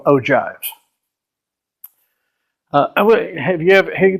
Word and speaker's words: ogive: close it's actually pronounced ogive it sounds like like a 70s version of oh snap it's ogive jive-talking no actually the